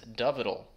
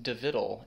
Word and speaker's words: Dovidl: set the record straight his name is dual that is the diminutive form of doid which is Yiddish for David uh again that is doal not devidal and not doal doal uh many thanks to